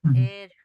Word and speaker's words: heir: Same way. H E I R is an air to the company.